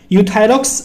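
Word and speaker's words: Euthyrox: उसका नाम क्या है, यूथोरैक्स। यहाँ पे गाइज ई साइलेंट है, सिर्फ यू पढ़ते हैं हम, यूथायरॉक्स 100 के नाम से आता है, 100 mg की इसकी स्ट्रेंथ होती है गाइज।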